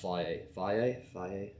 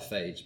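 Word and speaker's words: Fage: I think it's pronounced faye. It looks like phage, but that's a very British way of saying it.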